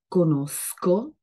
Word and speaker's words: conosco: Donc, conosco, sco sont durs, et puis conosci, donc les sons doux.